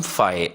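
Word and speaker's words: phi: तो ये इसको पढ़ेंगे हम 5 ऐसे प्रोनाउंस करते हैं इसको पी ह आई 5 ये एक ग्रीक लेटर है हम इसको नल सेट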